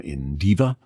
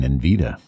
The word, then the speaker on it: Indiva: one from indiva and i think i might have been pronouncing it wrong all the time i might have been saying nvida but it's in diva if i have been saying in vida wrong wrong wrong gary this is in